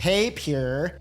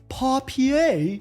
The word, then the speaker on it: Papier: Productivity extension number seven has a controversial name because although I am convinced it is pronounced pay-pure, my more educated friends tell me it's Papier.